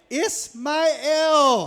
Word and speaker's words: Ismail: I ain't never heard it pronounced like that. Can you say Sorry. it again? Ismail. With the elaborate Yeah, you enunciation. said it. There we go. So Kiss my L.